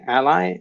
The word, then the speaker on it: a11y: With when you hear me say ally, it's how I pronounce it. At least I'm not sure if it's the if it's what everybody says, but it's accessibility is abbreviated as A11Y.